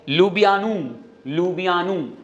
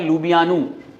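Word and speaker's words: Ljubljana: देखिए स्लोवेनिया की कैप जो आप टर्म है पढ़ नहीं पाओगे, इसका है लुबियानू प्रोनाउंसिएशन है लुबियानू। ये लोकल लैंग्वेज में इससे बोला जाता है।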